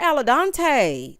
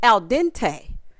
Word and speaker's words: al dente: They're al dente to the max. Alla who? Girl, who the hell is Dante? Who the hell is Dante? Girl, it's al dente, not al dente.